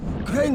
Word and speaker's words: Crane: store no my name's crane crane crane rhymes with train and brain and sane and grain and rain and plain and the other kind